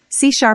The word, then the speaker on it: C#: C# is pronounced C#.